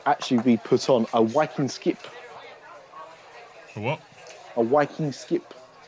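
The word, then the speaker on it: vikingskip: Norwegian you would actually be put on a wiing skip a what a viking skip okay that's that's how they that's how they pronounce it fa what we would call a Viking ship he a whing skip okay yeah the other the other bit of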